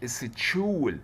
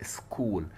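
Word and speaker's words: school: كلنا عارفين مدرسة يعني ايه سكول، فهنا بقى سكو، ما قلتش اتشو مع ان السي اتش جت اهي، ها ما قلتش اتشول، لا سكول، يعني اعتبرت الاتش مش موجود خالص ونطقت السي كاف.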